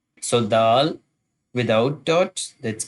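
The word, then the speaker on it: د: So dal without dot, that's called dal, dal, dal.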